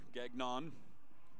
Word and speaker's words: Gagnon: I always have to stop myself in pronouncing Gagnon's name. It's the hard non, as I have family ties to Gagnon, and the syllable isn't near as stressed at the end. So instead of Gagnon, we're Gagnon.